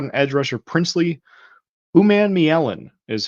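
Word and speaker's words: Umanmielen: um Florida's got an edge rusher princ Ley uman Mellen is how you say that um he is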